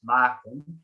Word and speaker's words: Maarten: This is Maarten.